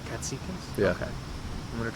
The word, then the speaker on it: Katsikis: Katsikis. Katsikis?